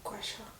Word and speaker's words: gua sha: Et ça se prononce comme ça, gua sha.